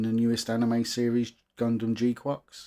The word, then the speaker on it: GQuuuuuuX: Hello and welcome to my review of the Highgrade G-qu. Yep, that's how you spell it and pronounce it.